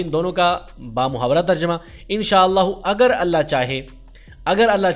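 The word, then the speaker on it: ان شاء اللہ: اور دوسرا ہے انشاءاللہ۔ اس کا تلفظ ذرا سمجھ لیں، ما الگ لفظ ہے، شاء الگ لفظ ہے اور اللہ الگ لفظ ہے۔ ایسے ہی ان الگ لفظ ہے، شاء الگ لفظ ہے اور اللہ الگ لفظ ہے۔ انشاء اللہ اور ما شاء اللہ یہ اس کا صحیح تلفظ ہے۔ بچوں کو یہ تلفظ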